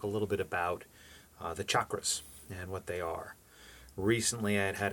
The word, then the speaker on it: chakra: So you really have to understand the chakras, and it's pronounced chakra. And often people will say chakra, but proper Sanskrit pronunciation is chakra.